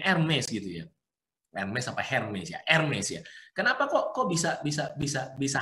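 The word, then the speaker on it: Hermès: Hermes gitu kan hermi itu kenapa Hermes ya bacanya MSG Kenapa kok bisa bisa-bisa bisa Harganya ratusan juta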